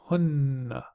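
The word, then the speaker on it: هنّ: they, for males, hum, and they for females, hunna.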